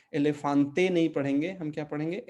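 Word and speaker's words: elefante: सकते हैं कि एलेफांत, इसमें जो है तीन एज हैं। मैं ए पुर्तगाली में उच्चारण कर रहा हूँ, ठीक है। इसमें तीन एज हैं, तो पहला दूसरा ए है, लेकिन आखिरी वाला अ है, ठीक है।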